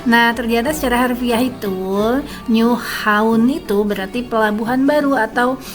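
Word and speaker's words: Nyhavn: Jadi ternyata nydengar itu bakal dibacanya nu atau new dan haun itu kita bacanya haun bukan haven bukan tapi haun. Jadi diucapinnya itu new haun gitu guys.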